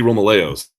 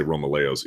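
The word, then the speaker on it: Romaleos: These are the Nike Romeos. This is how they pronounce it. I say Romelo even though I know that's incorrect.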